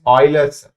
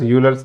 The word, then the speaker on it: Euler: Using, this is actual pronunciation is Euler's, but we Indians call it as Euler's method.